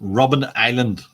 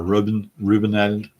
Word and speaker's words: Robben Island: I have the pronunciation. Robben Island. Robben Island. Or Robin or Reuben Island.